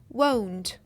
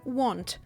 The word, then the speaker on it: won't: отримуємо ось такий варіант won won тільки будь ласка не сплутайте вимову зі словом want хотіти порівняйте Will Not скорочена форма won хотіти want Отже майбутня